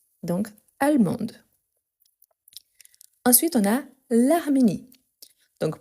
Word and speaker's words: allemande: Les femmes, on a allemande, allemande avec le E à la fin, mais on prononce en fait le D. Donc, allemande.